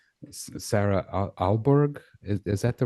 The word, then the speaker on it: Aalborg: Sarah Alborg. Is that the right way to say that, your last Yeah, name? it's a strange word. It's called Aalborg. Oh, you don't Yeah, even and pronounce the G.